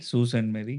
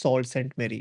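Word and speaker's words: Sault Ste. Marie: हाँ, एज per Canadian pronunciation it's Susan मेरी, सू सेंट सेंट मेरी। सू सेंट मेरी। एंड एज per Indian pronunciation it's सॉल्ट सेंट मेरी।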